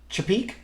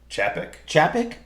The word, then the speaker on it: Chapek: Chapek? Chapek? Yeah. So the CEO of Disney, Bob Chapek, confirms that Free Guy, which is out now, and ShangChi will be released exclusively in theaters.